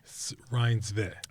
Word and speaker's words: Reinsve: And then and like so it's Rinsve.